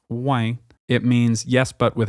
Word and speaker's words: ouais: This word is not unique to Quebec, but you'll likely hear it pronounced with a bit more of a nasal tone. For example, ouais, pas de problème.